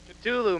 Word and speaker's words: Cthulhu: The exact pronunciation. Cthulhu, man.